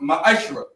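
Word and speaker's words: מעשר: It means 10th in Hebrew and is pronounced ma'ashra.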